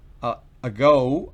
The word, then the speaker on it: ago: empezamos con go fíjense que la tilde está delante de la sílaba go y encima de lado está la rayita que les mencioné que significa que la letra o la vocal la vocal se pronuncia con su forma original en inglés go already ya a